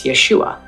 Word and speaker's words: Yeshua: The first letter to the farthest right is called a yod. It makes a Y sound, as in yellow. Under the yod are two horizontal dots. This vowel is called Sarah. This vowel makes a long A sound, as in say. The yod and Sarah together make Yeh, hence Yeshua.